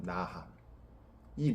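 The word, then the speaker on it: נחם: 뉘우침이란 단어는요 히브리어로는 나함이에요 나함이 나함이라는 단어는요 하나님의 긍휼 자비하심을 뜻하는 라함이라는 단어하고 유사합니다 발음이 나함 라함 유사하잖아요 그래서이 저자가 뉘우침 나함이라는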